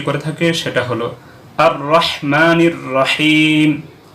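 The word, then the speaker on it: الرحيم: থাকে সেটা হলো আর রহমানির রাহিম হা গলার থেকে উচ্চারণ হবে রহমানের অর্থ হলো যে অতি দয়ালু যার তুলনা হয় না কিন্তু যদি এখানে পড়া হয় আর রহমান গোলহা মুখের শুরু থেকে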